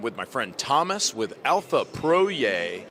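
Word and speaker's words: Alfa Proj: I'm a redneck, so it's, you know, it's P-R-O-J, so it's like, that's to me, that's Alpha Proj. But, you know, I realize that you Europeans pronounce things differently.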